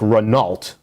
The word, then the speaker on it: Renault: a french company called renault it looks like renault but it's pronounced renault okay renault actually i've seen that picture before